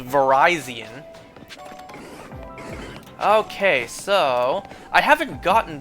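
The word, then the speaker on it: Virizion: Verizonian. All right. Not Verizian, folks. It's not how it's pronounced. It's pronounced Verizonian.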